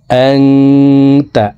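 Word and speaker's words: أَنْتَ: আল্লাহুম্মা আনতা রাব্বি, আংতা, আং এখানে ইকফা গুন্না। নুন সেকেন্ডের পরে ইকফার হরফ তা আসছে, এই কারণে এই নুন সেকেন্ডকে নাকের ভিতরে লুকাইয়া গুন্নার সহিত পড়ব।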